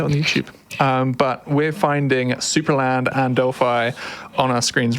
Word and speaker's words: Supraland: It is Supraland. It's a German game, and you nailed the pronunciation.